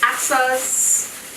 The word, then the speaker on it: Achsah: So the food is coming from a little Jamaican restaurant called Achsah. That's how you pronounce it, but that's not how you spell it.